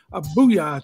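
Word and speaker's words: Boo-Yaa: All beat up if you mispronounce the booyah tribe. Did I say booyah? I said booyah.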